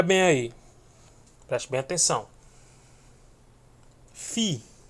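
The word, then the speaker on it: φι: Fi. Fi correspondente ao F no português.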